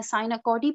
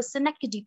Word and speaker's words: synecdoche: मैंने पहले भी बताया कि इसको गलत प्रोनाउंसिएट कर देते हैं, साइनाकोडी पढ़ते हैं बहुत से लोग, which is wrong. In American और British accent में दोनों में ही इसको synecdoche पढ़ा जाता है.